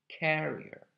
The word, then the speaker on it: carrier: the carrier okay so forget a little bit about this part of the word it's important to stress the first part carrier and a carrier um